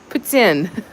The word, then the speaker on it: poutine: Poutine. Poutine. With a little more, actually, poutine. Poof without the F.